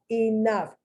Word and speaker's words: enough: v the uppercase v enough f you see the gh the gh is spelled it's pronounced like an f just like tough just like cough they end in gh